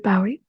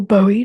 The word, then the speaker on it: Bowie: So the episode title is based on a song called the Jean Genie by David Bowie, or Bowie, depending on how you say it.